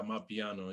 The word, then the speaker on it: Amapiano: Yeah, Amapiano.